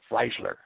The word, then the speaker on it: Freisler: In the People's Court, before the notorious Judge Roland Freisler, I'm not pronouncing that wrong. Freisler.